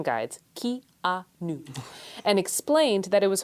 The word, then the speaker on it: Keanu: And then thirdly, it's still Keanu Reeves.